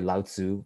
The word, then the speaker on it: Lao Tzu: And by the way, Lao Tzu, right? It's actually pronounced Lao Tzu.